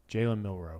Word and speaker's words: Milroe: Jalen Milroe. Jalen Milroe. That's it. No, Jalen Milroe.